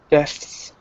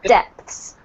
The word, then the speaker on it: depths: So the first one here was depths. Deaths. Yes. So try to make sure you pronounce the P. Otherwise, it sounds like deaths, which could also happen. Yeah. Depths.